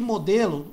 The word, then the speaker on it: model: Essa palavra aqui, modelo, modelo do equipamento, eles pronunciam lá como model, model, model. Esse D aqui vira quase um R, né? Model.